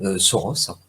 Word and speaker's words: Tauros: L'empereur Tauros, donc à prononcer Soros, reconnaissant sa maladresse, demanda à sa disciple Chialpa, donc à prononcer Chiapa, d'évacuer la preuve de son erreur.